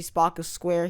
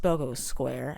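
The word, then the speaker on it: Spocco Square: goal a bit smaller we can also see spock of square here it's actually pronounced spogo square as confirmed by nintendo well not really confirmed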